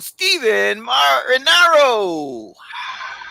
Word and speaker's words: Stephen Marinaro: Please join me in welcoming to the show Stephen Marinaro. Whoa, what an intro. First of all, you pronounce my first and last name correctly.